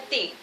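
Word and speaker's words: teen: Y a partir del número 13 vamos a tener el número y lo vamos a formar añadiéndole tin, T-E-E-N, que se pronuncia tin, y decimos 13.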